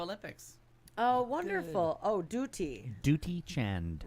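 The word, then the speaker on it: Dutee Chand: Oh, Duty, Duty Chand. right? Which you, so- that's how you pronounce it.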